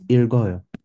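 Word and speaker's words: 읽어요: But in this case, we can pronounce the L. It becomes irgoyo.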